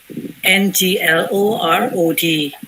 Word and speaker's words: nglorod: In Bahasa Jawa, we call it ngorot with D, Nglorod. Because if with in the at the end with T, it's different meaning.